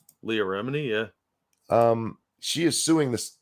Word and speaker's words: Leah Remini: Also in the news tonight, I saw Lee Remini. Is that how you say her name? Leah Remini, yeah.